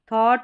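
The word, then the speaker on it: thought: ओ यू जी एच टी भी इसके साथ में यानी लास्ट में टी भी अटैच कर दे तो सेम है। इसमें ज़्यादा फर्क नहीं है। थॉट ब्रॉट या सॉर्ट यानी ऑड साउंड निकल कर आएगा इसका।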